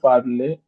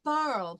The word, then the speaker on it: parlé: nous You have avons parlé avec la You have to professeure.